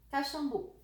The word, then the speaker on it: Caxambu: não sei vamos ver caxambu a sílaba forte de caxambu a última última última fala assim ah o